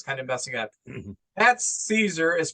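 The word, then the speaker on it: Szczur: I kept calling him Scherzer, because it sounds like Max Scherzer, so my brain was kind of messing up. Matt Caesar is pronounced Matt Caesar, like Caesar, Hail Caesar, Oh, a Caesar Planet of the salad.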